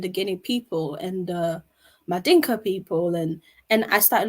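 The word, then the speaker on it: Mandinka: understand what does it mean to be a madingo woman or madinka woman as as as it's actually properly pronounced um and where are my roots from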